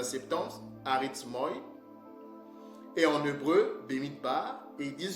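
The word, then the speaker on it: במדבר: du grec, de la Septante, arithmoi, en hébreu, Bemidbar. Ok, ça c'est la prononciation qu'Edom m'a donnée, d'accord. Et on dit qu'en hébreu, ce mot, nombre en hébreu, Bemidbar, signifie dans le désert.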